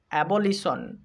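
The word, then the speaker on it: abolition: একটু আগেই শিখলাম যেখানেই টি আই ও এন থাকবে সেখানেই সন উচ্চারণ করতে হবে। তো এখানে টি আই ও এন সন, তাহলে হবে অ্যা বল ই সন, অ্যাবলিশন, অ্যাবলিশন মানে বাতিল।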